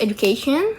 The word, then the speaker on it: education: The first is education. So the suffix tion causes the stress to fall on the syllable before uh education. So the stress was on the k.